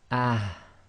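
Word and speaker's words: ح: and the Hamza so the soft ha will be pronounced as ah ah so you have to try and bring the half from the bottom of your throat so again it's ah so not too heavy you've got no air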